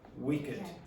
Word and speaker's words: wicked: But not for adjectives. There are many exceptions of this. So naked, and this is pronounced wicked.